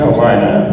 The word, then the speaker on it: Kaltenecker: Kalina, yeah, it's Kalina. Dude, everybody pronounces it in different ways.